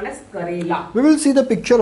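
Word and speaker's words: करेला: This is a Karela and not Kerala. Kerala is a state of India. That is a Kerala. Is K-E-R-A is Kerala. K-A-R-E means Karela. Okay. So the difference is Karela.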